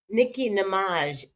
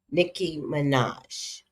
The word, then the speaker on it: Nicki Minaj: Nicki Namage is now a Trump supporter, but maybe she always was. Am I always pronouncing her name wrong? I feel like I always get her name wrong. Nicki Minaj.